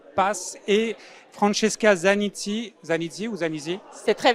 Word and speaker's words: Pass: Donc je le rappelle, Associate Partner chez HR Pass, il faut le prononcer en anglais, donc Pass, et Francesca Zanizzi, C'est très bien.